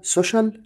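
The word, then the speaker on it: social: الاجتماعي طبعا دي اسمها سوشيال ميديا تاني سوشال ميديا خلي بالك السي اي اي دول بيدوني صوت الشق فبقول سوشيال سوشيال ميديا يقترح دي اسمها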